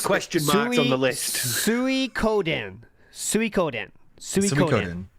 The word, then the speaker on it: Suikoden: How is the name of that game pronounced? Suikoden. Okay, so I've got it as question marks on the list. Suikoden.